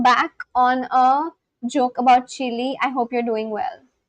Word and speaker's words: Chile: The e at the end, it's pronounced too. Chile.